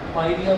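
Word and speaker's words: pyorrhoea: When the pH of mouth is low, it causes tooth decay, and a disease of gums called इसके spelling है PIARRHOEA, पायरिया बोलते हैं, in which the mouth of the person stinks badly, in which the mouth of the person stinks badly।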